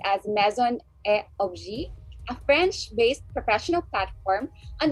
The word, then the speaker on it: Maison et Objet: She's also the designated Philippine office for Maison et Objet, or actually that's pronounced as Maison et Objet, a French-based professional platform on the pulse of emerging trends, talents, and a huge collection of innovations.